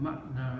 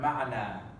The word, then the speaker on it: معنى: Mim, Ain, Noon, Ya al-Maqsura. But we put Tanween Fatha because, you know, when we stop with Tanween Fatha when we're reading the Quran, we pronounce Alif Mad. Okay? So So if we say- the noon has a fatha on it, right? No, the Noon has Fatha, the Ya is the Mad. Yes.